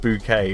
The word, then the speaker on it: Bucket: Mike Farm says the surname is Bucket, pronounced bouquet.